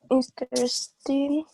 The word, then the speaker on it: interested: The stress is in the first syllable, interested.